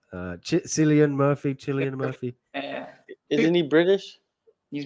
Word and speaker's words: Cillian Murphy: that yeah uh okay okay okay okay right Killian Murphy that's how you pronounce it says lazy T right I haven't